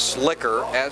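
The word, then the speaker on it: Schlicher: that's really what's possible i believe the pronunciation is slicker c h e s-c-h-l-i-c-h-e-r j schlicker the ball carrier picks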